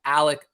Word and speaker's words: Alex: and by the way why do people call him Alec Murdock if his name is spelled Alex Murdoch I've been having a lot of questions about that is that a southern thing or is that just a murder thing it's actually a Scottish thing right it's Scottish thing